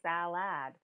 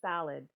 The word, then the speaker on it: salad: And they usually say salad. And I'm like, we actually pronounce it salad.